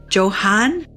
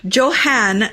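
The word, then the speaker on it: Johann: what be that Joanne Johan I would pronounce it like more like a Johan because Johan it's probably German or something yeah so now we're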